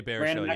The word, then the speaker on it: Baruchel: Another one that does it really good is Jay Budish. I think that's how you say his name, Jay Budishell, or Jay Baruchel. Jay Baruchel, yeah.